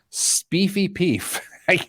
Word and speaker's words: Speefy Peef: It is, of the story, the Uber story, Speefy Peef. I got to quit saying that. Sounds dirty. Spelled like it sounds.